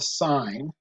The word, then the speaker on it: sine: we'll talk about is the sign which is spelled sine but you just need